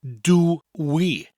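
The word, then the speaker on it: dw i: and the phrase becomes do we which luckily is easier to learn now it's pronounced do we and so that you're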